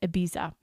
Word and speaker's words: Ibiza: subject, but is in Ibiza, which I know you're not supposed to say it like that, but that's how I say it in my American accent.